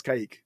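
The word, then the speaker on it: Kaick: listen to him say it, and he says Kayik.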